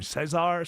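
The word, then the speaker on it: César: You know, and there's these revelations about how do you say Chavez's name? Cesar. Cesar Chavez. I always said Caesar Chavez.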